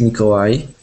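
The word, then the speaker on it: Mikołaj: yourself okay my name's it's pronounced mikawai all right yes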